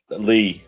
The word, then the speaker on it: Li: Evans x i a I always mispronounce her name Lee her last name is Lee uh sis brings up